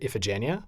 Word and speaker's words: Iphigenia: Iphigenia in the Greek, in the movie, they pronounce it Iphigenia. I'm going to defer to them because they are Greek, so they would know. But they say Iphigenia.